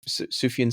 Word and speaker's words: Sufjan: He's kind of like Do you know Suf- Sufjan Stevens?